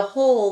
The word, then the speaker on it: whole: okay and then the whole like you're eating a whole piece of pie or a whole pizza is wh 0 l e so it has a silent w on the beginning hopefully you can see